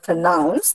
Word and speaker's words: pronounce: I told you the word pronounce, when I utter the word pronounce, the second section or the second syllable gets more prominence or more force when it is uttered.